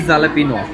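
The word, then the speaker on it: jalapeño: नहीं, चीज़ जैलापिनो पॉपर, चीज़ी जालापिनो पोपर्स। जैलापिनो ये सही है प्रोनाउंसिएशन।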